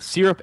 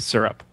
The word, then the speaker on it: syrup: I say I say I say both syrup and syrup okay interesting I feel